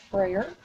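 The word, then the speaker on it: Frayer: side that says Freyer model, that's how you pronounce that, Freyer, and then you will fold it over across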